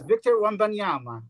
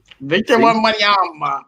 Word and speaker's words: Victor Wembanyama: His name is Victor Wembanyama. Victor Wembanyama. I feel like that's accurate as fuck, bro. Hey, that's how you say it.